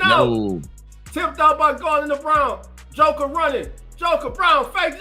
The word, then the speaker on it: Braun: I want to say Braun, but I keep saying Brown. It's Brown. It's Brown. It's Brown. Brown is playing a hell of a game. It's spel it spelled like Braraw, but it's pronounced Brown.